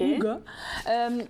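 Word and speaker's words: Hooga: Ça se prononce comme ça, H-O-O-G-A. OK. Ouga.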